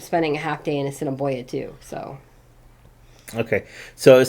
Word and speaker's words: Assiniboia: Some people would say asinine boy, and it's like, no, it's Assiniboia.